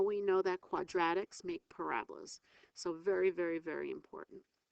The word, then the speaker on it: parabola: is called a parabola kind of looks like I wrote parabola but the way you pronounce it is parabola all quadratic equations make